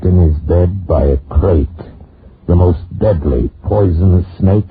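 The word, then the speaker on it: krait: What kind of a guy Harry Pope was and what kind of a snake the crate is. First, the crate. You spell it K-R-A-I-T.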